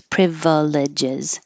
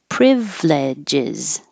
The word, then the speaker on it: privileges: And privileges, we're dropping the middle I, so we don't have four syllables privileges, just three. Privileges, privileges, also, privileges, privileges. Maybe it's ledge, but I say lid.